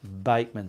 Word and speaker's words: Bachmann: pronouncing her name wrong it's spelt bachmann but it's pronounced bateman so she prompted me